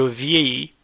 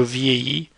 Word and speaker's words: vieillis: Notice how the double L, you don't actually pronounce it. Je vieillis, tu vieillis, il vieillit, nous vieillissons, vous vieillissez, ils vieillissent. You don't pronounce the double L.